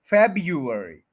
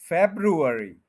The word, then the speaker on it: February: आप जैसे भी बोलना चाहें, फेब, यू, अर, ई, ये बनेगा फेब्रुअरी। और अगर आर लेना है इस जगह पे तो फिर ये बनेगा फेब्रू, फेब्रुअरी, ये भी ठीक है बिल्कुल।